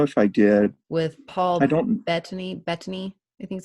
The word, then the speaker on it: Bettany: With Paul Bettany, I think is how you say his name. Oh yeah, I did see that. Yes, Paul Bettany.